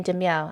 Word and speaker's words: De Miao: and Grand Admiral Thrawn said, I just realized De Miao is pronounced De Miao because cat. Yes, because cat.